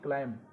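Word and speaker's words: climb: सी एल आई एम बी क्लाइम, क्लाइम माने चढ़ना। तो इन तीनों में क्या है, ये बी साइलेंट है।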